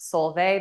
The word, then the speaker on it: Solveig: My name is pronounced Solveig, the G is silent.